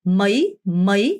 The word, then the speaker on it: mấy: mấy, 여러분 mấy 아니고요. 어가 짧고 y의 강세를 주는 mấy 이렇게 읽으셔야 돼요. mấy 이게 바로 몇이라는 표현이죠.